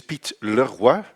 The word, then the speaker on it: Piet Leroy: My name is Piet Leroy. You pronounce it in the French way.